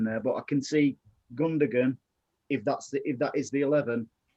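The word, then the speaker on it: Gündoğan: But I can see Gundogan, if that is the 11, just dropping back and letting Say that name again. Who? Say that name again. Gundogan.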